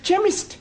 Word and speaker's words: chemist: Chemist does not begin with a K. It sounds like it begins with K, CH. but that is making it chemist. No, the CH is pronounced K.